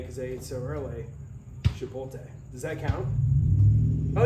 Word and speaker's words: Chipotle: The L's after the T. Chipotle.